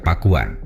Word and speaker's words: Pakuan: Dalam lidah orang Sunda kata itu akan diucapkan pakuan.